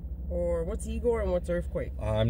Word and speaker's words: Earfquake: creator, and we're doing Earfquake. Earfquake. Or Earfquake? It's like Earfquake. Earfquake, yeah. Yeah. I think I said it right. Yeah, like Earth, but it's an F instead of the TH.